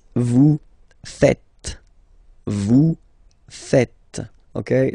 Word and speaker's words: faites: It's vous faites. Vous faites. Okay? So remember, final S here is not pronounced, and then this is not pronounced either.